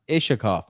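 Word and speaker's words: Iskhakov: Shay says, it's not pronounced with shh. It's pronounced Ishakov.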